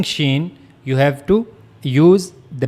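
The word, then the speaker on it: شين: So for pronouncing shen you have to use the middle of the tongue. This is the middle of the tongue and it will meet to the root roof of the mouth.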